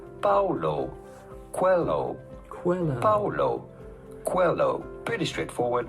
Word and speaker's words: Paulo Coelho: How do you go about pronouncing his name? Paulo Coelho.